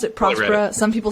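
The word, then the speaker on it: Próspera: team at prosperous but the accent is on the o so like if you know and it's a Spanish-speaking country so I think it's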